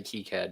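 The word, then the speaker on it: KiCad: Dan and that is how does one pronounce k i c a d you know I have in 2023 I am trying to say kead despite my brain's absolute disgust with saying it I uh I've been trying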